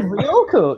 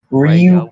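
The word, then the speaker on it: Ryūko: You said Ryoko. You said Ryoko. You said it wrong. Ryoko Fucking- is like fucking Junko Enoshima from Danganronpa. Spoilers for that one spin-off novel nobody read. Okay. Ryuko.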